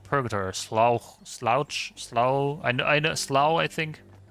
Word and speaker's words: Slough: Pronounced like Slough. Okay, Slough. Lovely name. Lovely name. I can only imagine what it's like then. Slough sounds more like slow. Rhymes with now.